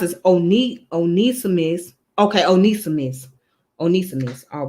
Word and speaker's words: Onesimus: You say it's pronounced as Onesimus.